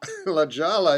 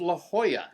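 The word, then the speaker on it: La Jolla: Lajala? Yeah. Oh, it's pronounced La Hoya.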